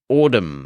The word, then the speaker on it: Audm: the New York Times called Autumn that's spelled audm which purportedly provides a